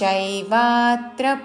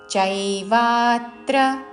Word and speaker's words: चैवात्र: వివిధాశ్చ పృథక్ చేష్టా దైవం చైవాత్ర పంచమం దైవం అనుస్వారము ఇన్య ఉచ్చారణ చైవాత్ర చేవాత్ర కాదు చై చ ఐత్వముతో చైవాత్ర పంచమం పాపకిన ఇన్యాకి చావత్తు పంచమం దైవం చైవాత్ర పంచమం।